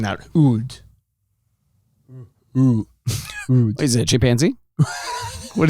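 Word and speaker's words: Houde: So I'm hoping I'm pronouncing that Oud. Is it a chimpanzee? What is going on? H-O-U-D-E. Oud. Yeah, Oud.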